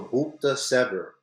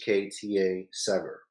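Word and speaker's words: Bukhta Sever: With this new construction of this port, it's called the Bukta Sever port. I'm not pronouncing it properly. It's Buhkta Sever.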